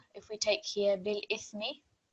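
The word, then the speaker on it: بالإثم: So bil ithmi, tha is muted. On pausing, it will be bil ithm.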